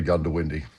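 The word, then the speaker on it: Goondiwindi: the promotional video for Gundowindi. First of all, how do you pronounce the bloody place? Well, look, um, most people say Gundowindi. If you really don't know, you say Gundowindi, okay?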